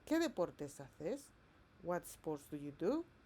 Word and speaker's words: hace: The letter C has a soft sound like th when it comes before E and I. For example, hace natación. However, as I told you,